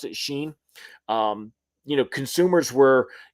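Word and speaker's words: Shein: from Timu or Sheen, is that how you pronounce it? Sheen.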